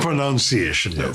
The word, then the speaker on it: pronunciation: not pronunciation pronunciation um and it's actually linked to inunciation right which is to speak clearly and um it's not linked to pronoun which is where the confusion comes from yes and what